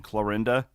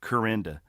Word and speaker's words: Clarinda: The one thing, if you go back to my hometown, so where we live in Clarinda, well, like I would say 70% of the town calls it Corinda.